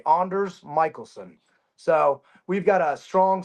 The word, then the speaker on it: Anders Michelson: name is, I guess, like properly pronounced. Anders Michelson.